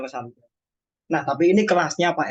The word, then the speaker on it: Legendre: Legendre ya, bacanya bukan Legendre ya. Polinomial Legendre. Tulisannya emang Legendre, tapi bacanya Legendre.